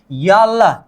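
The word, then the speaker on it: 열: भी अक्षर के नीचे आ जाए तो इसका उच्चारण क्या होनी चाहिए, ल होनी चाहिए, मतलब यल, क्या होगा, यल।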